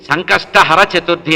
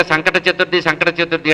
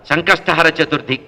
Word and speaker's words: సంకష్టహర చతుర్థి: సర్వసంకటాలు తీరడానికి ఉండేటువంటి ఈ చతుర్థిని సంకష్టహర చతుర్థి అంటారు. మన వాళ్ళు తెలియక సంకట చతుర్థి అంటారు. అంటే సంకటాలు రావడానికి కోరుకున్న చతుర్థిలాగా ఉంటుంది. మన ఉచ్చారణే తప్పు. సంకష్టహర కష్టాల్ని హరించాలి అని చెప్పాలట సంకష్టహర చతుర్థి.